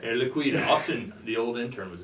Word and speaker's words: Air Liquide: Air Liquide, get the French pronunciation, yeah. right? Air Liquide.